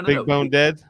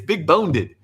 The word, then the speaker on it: Big Boned: Big Bone Dead, No, it's Big Boned.